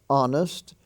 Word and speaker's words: honest: the honor roll h-o-n-o-r honest h-o-n-e-s-t the h is silent there ghost g-h-o-s gastly g-h-a-s-t-l-y